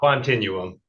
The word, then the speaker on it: Quantinuum: what's the proper pronunciation? It's Quantinuum.